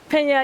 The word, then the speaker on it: Pena: It's Pina, right? Pena, yeah. Pena, okay.